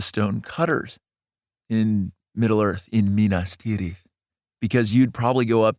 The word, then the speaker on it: Minas Tirith: They are going to Minas Tirith. Minas Tirith. I'll do multiple pronunciations as I've done for the entire trilogy. Minas Tirith versus Minas Tirith.